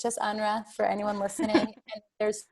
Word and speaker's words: UNRWA: No one ever knows how to pronounce it. I've heard UNRWA, UNRWA, UNRWA, UNRWA. It's just UNRWA for anyone listening.